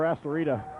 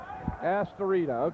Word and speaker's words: Astorita: I want to place a vote for Astorita. Astorita. Okay, that's a tongue twister. What I say goes, right? Astorita. Dave Bright, we get a thumbs up for Astorita. Doug Heck. Astorita. We have the correct pronunciation of that. That'll be Dave 1, Jeff nothing on that vote.